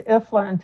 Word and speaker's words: Ifland: It's Ifland, just like it's spelled if Ifland.